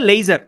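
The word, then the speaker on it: leisure: লেশিউর এটার প্রান্সি হচ্ছে লেজার।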